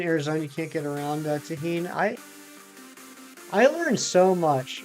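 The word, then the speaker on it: tahini: to uh but I don't use them it's pronounced tahin okay tahin Doritos and sour cream that actually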